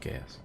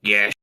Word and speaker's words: geas: I still would say Gaius. It is yeah, that's what we all say, but it's pronounced Gesh.